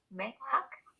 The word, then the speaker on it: Mehak: Mehak? Yes, doctor, you pronounce it very well, actually.